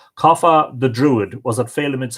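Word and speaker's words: Cathbad: story of her birth kapha that's CA th ba D kapha the druid was a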